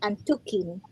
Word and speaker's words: antukin: So actually the meaning behind that is um it is pronounced as antukin which means sleepy.